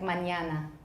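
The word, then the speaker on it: mañana: spanish for words like manana and that's just a palatalized n that means there's a yes sound together with the n everyone this is also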